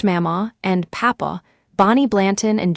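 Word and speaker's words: Mamaw: Home was with his grandparents, Mama, pronounced Mama, and Papa, Bonnie Blanton and Jim Vance in Jackson, Kentucky, in the heart of Kentucky coal country.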